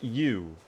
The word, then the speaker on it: Eu: Eu is pronounced U. It's pronounced U. That is the weirdest pronunciation I've seen in a while. I'm not going to lie. But that's okay. If that is the way it's supposed to be pronounced, we pronounce it that way.